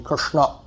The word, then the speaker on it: Krishna: For that matter, we should say Krishna, and most of us don't pronounce Krishna properly. It should be Krishna.